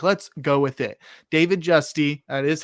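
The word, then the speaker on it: David Giusti: David Justy, that is how it's pronounced, had a 15-year career from 1962 to 77 with the Houston Colt 45s.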